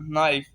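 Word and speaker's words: knife: नाइफ, नाइफ है next word, नाइफ, के NIFE, नाइफ, नाइफ mean चाकू।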